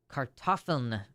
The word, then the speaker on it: Kartoffel: The word potato is Kartoffeln. Kartoffeln in German. I don't know how to pronounce that.